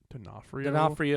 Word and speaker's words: D'Onofrio: Vincent D'Onofrio. D'Onofrio. Get your Italian pronunciations correct.